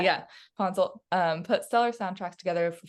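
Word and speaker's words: Ponsoldt: Yeah, Ponzel.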